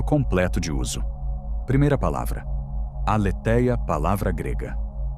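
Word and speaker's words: aletheia: Primeira palavra, aleteia, palavra grega pronunciada.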